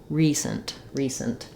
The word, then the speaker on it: recent: or a schwa sound, but just try to go quickly from your s to your nt, sent, recent. Letter C says the s sound here, which is following the rule of when C has an E after it, it usually says s rather than k, recent.